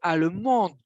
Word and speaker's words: allemande: Ici, il y a un E, mais parce que j'ai prononcé allemande. Allemande. Je prononce le D. Si je prononce le D, ça veut dire qu'il y a un E après et que c'est féminin.